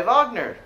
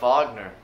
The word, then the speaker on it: Wagner: life and music of wagner richard wagner was born in 1813 in leipzig germany notice how his last name starts with the w but it's pronounced with the v sound that's how w's are